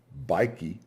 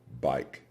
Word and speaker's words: bike: here it is not biky but simply bike it is not noty it is simply note so you see the letter e at the end of the word is silent three things to remember